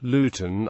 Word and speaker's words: Luton: a good example is the pronunciation of the word luten to most natives it is said like l n this difference was played